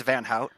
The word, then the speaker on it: Van Hout: gonna say anything but it's it's it's van yeah van okay okay yeah yeah